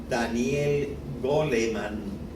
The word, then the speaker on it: Daniel Goleman: un psicólogo norteamericano que si lo pronunciamos un poco a la castellana lo llamaríamos Daniel goleman o sea pero este